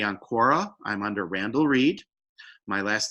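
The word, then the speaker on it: Reade: I'm under Randall Reed. My last name is spelled R-E-A-D-E.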